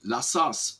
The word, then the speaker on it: La Sasse: I say La Sasse, but what is it? How do you spell it in French, in original?